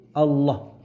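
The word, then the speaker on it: الله: sebisa mungkin kemudian Yani melafalkannya secara benar yaitu Allah rada tebel l-nya kemudian kalau bisa kita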